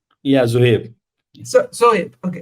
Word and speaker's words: Zuhaib: So, Hep, do I pronounce it right? Yeah, Zuhaib. Sohib. Okay, Sohib.